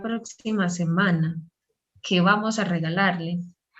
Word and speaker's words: regalarle: Ay Dios, si es la próxima semana, ¿qué vamos a regalarle?